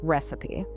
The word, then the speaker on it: recipe: But the twin word is recipe. It is spelled R-E-C-I-P-E. There are no ghost letters here. You say all the parts. All the parts. It has 3 beats.